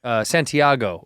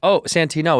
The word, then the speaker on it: Santino: Well, like when I was a kid, they would always say Santiago or Santini, because the great Santini. Yes, right. But it's Santino. It's unmistakably easy to pronounce. It's the letters is the words. Exactly. It's that Santino.